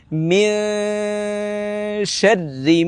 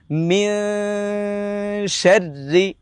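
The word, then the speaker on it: مِن شَرِّ: আমরা প্রথমে জেনে নিচ্ছি এই গুণনাটা পাতলা গুণনা, আমরা ম্যাক্সিমাম সময় এই গুণনাটাকে মোটা গুণনা করে ফেলি। এটার সঠিক উচ্চারণ হচ্ছে মিন শাররি মা খলাক, মিন শাররি।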